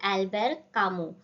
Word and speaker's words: Albert Camus: से myth of Sisyphus अभी यह फ्रेंच है तो उनका टी और एस नहीं प्रोनाउंस करना है सो इट इज अल्बर कामू तो उनका 1942 में